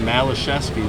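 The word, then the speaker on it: Malaszewski: The correct pronunciation of his name should be Malashevsky, but his dad or someone along the line changed the pronunciation to just make it Malazewski because everyone would say Malazewski Yeah.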